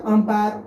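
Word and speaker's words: umpire: जैसे अंपायर, अंपायर हम ऐसे प्रोनाउंस करते हैं अंपायर, अंपायर में आ जो है ये खुद एक वॉवेल साउंड है तो इसलिए यहाँ एन का हम प्रयोग करेंगे।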